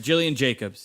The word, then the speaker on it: Gillian Jacobs: girls on hbo and uh yeah is it gillian jacobs or jillian gabe jacobs how do you pronounce her name jillian jacobs yeah yes uh she is now guest starring